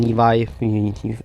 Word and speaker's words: Levy: I have faith in Sean Levy and or Sean Levi. That's how you say his name.